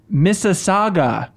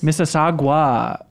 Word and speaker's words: Mississauga: failed I also met Miller fail it is pronounced Mississauga but at least you try it was mississagua Mississauga pronounced Toronto Toronto got like Wayzata yeah